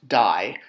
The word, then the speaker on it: di: So one new word we learned last week was die, D-I, but pronounced die, which is a triangle with another triangle in it.